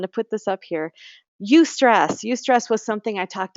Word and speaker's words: eustress: There's good stress, which is called eustress, taken from the Greek like euphoria.